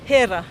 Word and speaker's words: Hera: Right, should we go and meet Hera? Yeah, let's do that. How do you pronounce her name before I get it wrong? Hera.